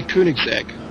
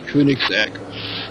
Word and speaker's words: Koenigsegg: And Mike Wrightson, of course, in the Koenigsegg. Oh, I really should pronounce it the German way, Koenigsegg. That's the way to pronounce it, actually, folks, Koenigsegg.